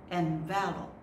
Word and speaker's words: envelop: Be careful of this word. Yes, the word is envelop. Envelop. So once you put an E at the end, it becomes envelope. Okay, that's a thing. But this one is a verb. Envelop.